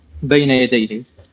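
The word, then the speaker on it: بين يديه: And I'm sorry for butchering this word, but I think it's Benya Yadehi. How do you say it? Benya Yadehi. Almost perfectly.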